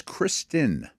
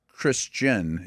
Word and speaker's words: Christian: By the way, it's Kristen. The H is silent. No, it's not Christian. It's like the female name, Kristen.